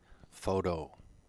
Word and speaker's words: photo: iron next one photo stress is on the first o and t is pronounced d photo the next one photographer